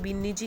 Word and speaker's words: बीन्नी जी: Rajput families में जो daughter in लॉ होता है उन्हें बीन्नी जी कहा जाता है, तो इसमें हम बीन्नी जी ही पढ़ेंगे।